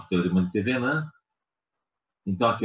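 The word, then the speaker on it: Thévenin: Então, o teorema de Thevenin, escreve assim, ó, Thevenin, a gente pronuncia Thevenin, ele se aplica nos casos em que desejamos substituir um circuito complexo por um mais simples, equivalente.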